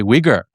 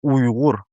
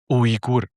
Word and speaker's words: Uyghur: But the G is like in the back here, maybe. Yeah, yeah. It's a unique sound. Uyghur.